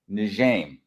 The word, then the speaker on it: Njeim: I guess now, and his name is John Njeim.